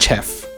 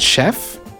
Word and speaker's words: chef: okay i got it so this is a champagne and chef know what it's champagne and chef all right then these